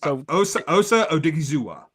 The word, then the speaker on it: Odighizuwa: Because I can't pronounce his name. It's Osa Odighizuwa.